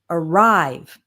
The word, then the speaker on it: arrive: And when we have two-syllable verbs, we usually stress the second syllable. So we have relax, begin, delete, arrive.